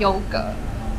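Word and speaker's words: 優格: Let's eat their yogurt In Taiwan the pronunciation is yōu gé and you call it suān nǎi It has 2 flavours honey and caramel Let's try Honey first Not bad!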